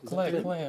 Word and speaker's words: Klee: oh, Clay, like K-L-E-E. Yeah, Might yeah. be. Is that how you say it? Clay? I don't know how you say it. Clay or Cleve? That's correct, yes, Paul Klee.